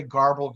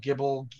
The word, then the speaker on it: GRBL: So some people say garble, gerbil, gibble. It's important you say it differently each time.